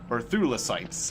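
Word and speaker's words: Thulecite: We can get some more of these Thulicites. I was saying it wrong. Thulicite.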